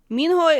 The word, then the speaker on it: Minho: I think Korean actually separates syllables a little bit more. It's It's more like minho. Minho, you don't try to say it as one word. It's more like two syllables, you know.